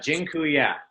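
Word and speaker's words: dziękuję: so much awesome and Jin Kuya by the way I just taught you all the a polish word for thank you it's Jin ku yeah that I'm not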